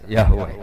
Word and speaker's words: Yahweh: Ya paham ya, Tuhan Yahudi tunggal niku Yahweh, napa? Yahweh. Iku nak teng ejaan Latin Y besar, A H besar, W E H besar, Yahweh.